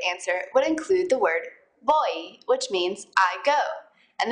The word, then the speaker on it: voy: In Spanish, v's and b's sound a lot alike, and they're pretty much just a mixture of the two letters. Boy, repeat.